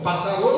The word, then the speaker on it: pássaro: Pássaro não. A sílaba forte está em pássaro.